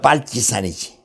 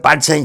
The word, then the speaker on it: 빨치산: 이거 우리말로 빨치산이지. 빨치산이 파리선에서 나왔거든. 파리선, 빨치산. 그러니까 파리선의 이건 원래 어원은 불어에서 나왔는데 이게 이제 러시아 식으로는 빨치산이라고 발음하나 봐.